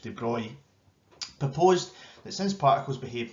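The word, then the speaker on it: de Broglie: energy it has the more it vibrates so louis spelled the broccoli but it's actually pronounced de bruy proposed that since particles behave like waves then all particles must have a wavelength this wavelength known as the debris wavelength is extremely small within the bohr model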